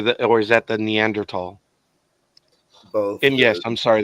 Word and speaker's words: Neanderthal: what it is well I think the th is pronounced like a t in German Mr sarkeesian that's the